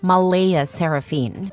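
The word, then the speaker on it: Mleigha Seraphynne: yes spelled exactly like that CLA insists it's pronounced Mala seraphine but she's adamant about keeping the creative spelling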